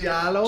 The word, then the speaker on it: giallo: Am I Giallo. Pronouncing? Giallo. Just play with the word yellow. Let and it roll in your mouth when you say it.